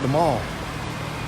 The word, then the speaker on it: The Mall: and that is known as the mouth we pronounce it the mall it's called the man and that's the long